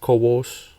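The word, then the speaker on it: CoWoS: So um in November last month, Apple posted listings seeking DRAM packaging engineers with expertise in um coass kos that's how you say it.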